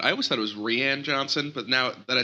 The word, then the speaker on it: Rian: Rian. I thought it was Rian. It's spelled Rian, spelled but I guess it's R-I-N. Ryan. Yeah, it's Ryan.